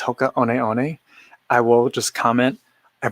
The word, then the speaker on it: Hoka One One: every time he says hoka on eone i will just comment i believe it's pronounced hoka one one like you're saying the number um and usually i